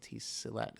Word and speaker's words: Silat: How do you pronounce that? Silat.